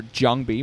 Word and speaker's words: JangBi: be between zero and jangi or jangi if you prefer to pronounce it correctly in the Korean way it's going to be